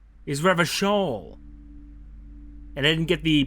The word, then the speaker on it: Revachol: Oh, I've been pronouncing it all wrong. Is Revachol.